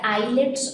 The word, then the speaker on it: islets: was it named the eyelets of Langer hands now this is how we pronounce it eyelets now this was called